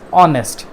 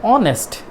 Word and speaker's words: honest: of this word is honest simply H remains silent you can say I'm honest I'm honest that means